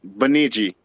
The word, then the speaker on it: Bemidji: That's Bemidji.